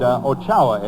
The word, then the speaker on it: Ochoa: And Ochoa, it's pronounced.